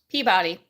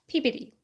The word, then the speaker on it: Peabody: Peabody no when you live in Wisconsin it's pronounced Peabody because it's spelled p-e-a-b-o-d-y I can correct it for we even got to Boston we got corrected in Baltimore it's pronounced pbd so take out everything except for the Y